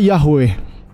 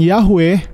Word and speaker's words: Yahweh: Ibrani dan sumber-sumber kuno mereka menyimpulkan bahwa pengucapan yahwe lebih mungkin mendekati pengucapan aslinya namun ini hanyalah Salah